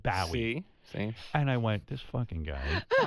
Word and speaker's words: Bowie: i said listen i i said maybe you don't care but the guy's name is david bowe he goes no in england they say david bowie and i went this